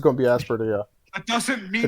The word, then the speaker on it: Aspertia: Yeah, would I you would guys say pronounce Aspertia as well. Phoenix, Giga? I'm Googling it. Oh, Asperia.